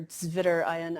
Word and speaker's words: zwitterion: terms thrown around illid or zwitterion um or zvitter ion i guess if you're pronouncing things properly um a lot of german chemistry involved here but these pretty much